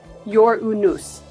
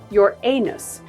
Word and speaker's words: Uranus: led to varied pronunciations the traditional English pronunciation places emphasis on the first syllable sounding like your unus or Y unus however an alternative pronunciation your anus has emerged partly to